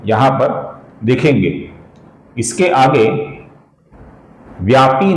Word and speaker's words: व्यापी: इसके आगे व्यापी नाम है दोस्तों, ये पी दीर्घ है। कुछ लोग इसका व्यापी ऐसा ह्रस्व छोटा उच्चारण करते हैं जो कि गलत है।